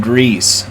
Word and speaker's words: Gris: here by the way the name is more like Greece since it's Spanish not French no how about that